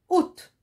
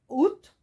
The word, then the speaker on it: août: prononcent pas exemple ici le mot août le mois août host le mois août il commence par une lettre muette à c'est une lettre me est elle ne sera ne se prononcent pas voilà après il y